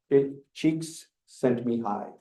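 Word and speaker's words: Csikszentmihalyi: sent Mi High okay that's how you pronounce this cheeks sent Mi High okay um as opposed to marijuana s High okay CH s okay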